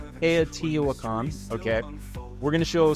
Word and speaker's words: Teotihuacan: But that's, how do I pronounce it, Lance? Teotihuacan? Teotihuacan, okay.